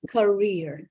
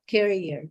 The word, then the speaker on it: career: But this one is career. It's not career.